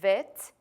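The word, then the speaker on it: ב: the form of this letter so it is vit and then some of you are gonna go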